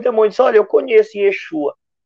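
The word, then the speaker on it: ישוע: Jesus é nome interpolarizado, paganizado. Chama Yeshua mesmo, né? Yeshua. Tá, os 7 filhos de Seva eram judeus e pronunciavam o nome de Jesus da forma correta. Yeshua.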